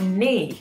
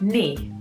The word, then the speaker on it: knee: bends, that is your knee. So in English, we spell this word, as you can see, with a K at the beginning, but we do not pronounce the K. So it is knee.